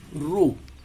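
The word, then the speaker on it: ρ: আমরা এখানে সেই ধ্রুবকটাকে রো, উচ্চারণ হলো রো, একটা চিহ্ন ব্যবহার করেছি, একটু বাঁকানো এর মতো।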